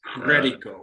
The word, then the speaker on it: Credico: To get your name right, you have to roll your R's. Credico.